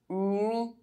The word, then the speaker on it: nuit: If the vowel U is followed by any other vowel, U is pronounced U. It's like the way we pronounce the letter U in French. U is a semi-vowel. It cannot be pronounced alone. It needs to be pronounced with another vowel sound in the same syllable. Nuage. Muet. Sueur. Nuit.